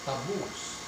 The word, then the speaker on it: taboos: Taboos. So the accent would be on the second syllable, no?